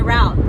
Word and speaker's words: route: And yeah, I say route because I'm from the East Coast.